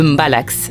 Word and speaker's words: mbalax: Un style tout particulier retient notre attention, le mbalax, prononcé mbala.